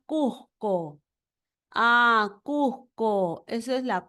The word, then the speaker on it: Cusco: La consonante S suena como J suave cuando se pronuncia Cusco.